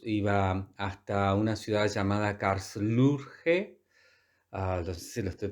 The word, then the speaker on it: Karlsruhe: Iba hasta una ciudad llamada Karlsruhe. No sé si lo estoy pronunciando bien. A ver, voy a ver. Am, sí, Karlsruher.